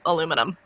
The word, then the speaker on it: aluminum: actually spelled aluminium and only in America do we spell it and pronounce it aluminum Americans love to take